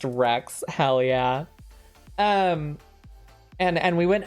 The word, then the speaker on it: WRX: So I drove my Subi up there, and pronounced Rex, hell yeah.